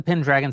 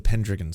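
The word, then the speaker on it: Pendragon: ] I want the the actual what's the pin dragon cycle generally about I have my apologies I didn't know I was mispronouncing it the pendon cycle all right sorry the pendon cycle go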